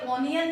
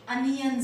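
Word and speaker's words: onion: अब आप इसमें भी गलती मत करिएगा, ये ऑनियन नहीं है, इसकी प्रोनाउंसिएशन क्या रहेगी? अनियन seeds.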